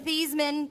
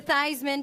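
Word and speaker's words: Theismann: They changed your name from Theman to Thyisman to Rhyme with Heisman.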